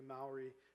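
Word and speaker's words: Māori: And there were lots of connections between one of the indigenous peoples of New Zealand, the Maori, or the Maori, as it's sometimes pronounced, and Nantucket, to the point where Ralph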